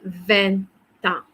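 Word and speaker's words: vingt ans: Tu vas dire, you say, j'ai 20 ans. Okay, there's a liaison sound because the consonant T is meeting, okay, the vowel A. So there'll be a liaison sound, 20 ans.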